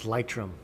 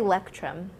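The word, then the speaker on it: Leuchtturm: It's Lychrum. Lychrum. With a, like Lychrum. That? Lychrum. Lychrum. Yeah. Lychrum. It's a soft. I wanted to say Lectrum.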